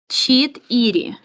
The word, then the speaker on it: Четыре: It would be cheat iri.